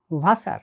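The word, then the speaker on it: Wasser: জার্মানে ভি উচ্চারিত হয় ইংরেজি এফ এর মতো করে, যেমন ফাটার মানে বাবা, আর ডাব্লু উচ্চারিত হয় ইংরেজি ভি এর মতো করে, যেমন ভাসার মানে পানি।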